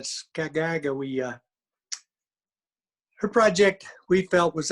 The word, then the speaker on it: Sacagawea: life and contribution of I can't say it correctly, not Sacagawea, but Skagagawea.